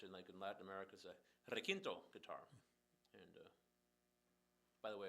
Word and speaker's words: requinto: No, it's spelled out phonetically. Requinto, requinto, and I know, but it's requinto in English in my country.